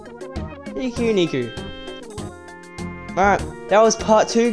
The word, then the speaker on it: Pikuniku: I don't even know how to say the thing yet. Pikuniku, I'm pretty sure. Pikuniku.